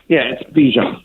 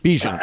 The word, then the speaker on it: Bijan: Now, Bijan Robinson. Right? Oh, Bijan Robinson. Yeah, it must be Bijan Robinson. It's Bijan. Bijan.